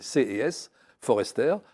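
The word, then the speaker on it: C. S. Forester: je recommande CS Forester CS c'est les C Forester comme ça se prononce et c'est les aventure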